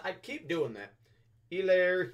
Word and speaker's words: Hilaire: clyde edwards hilaire i i know the h is silent i keep doing that elaire hilaire it's hilarious all right